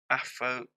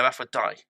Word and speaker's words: Aphrodite: It is Aphrodite. No, Aphrodite. So this is a law question, and she's kind of pronounced it out.